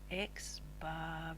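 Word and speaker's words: x̄: to note are that the x bar value which is how we pronounce the x with the little line over the top is actually your mean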